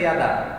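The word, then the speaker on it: ידע: Na verdade, a pronúncia é Yadá, como se fosse isso.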